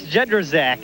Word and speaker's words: Jedrzak: Jerzerjic, I mean, what is it, Timmy? Yeah, it's Jedrzak, and it's a little difficult, but if we keep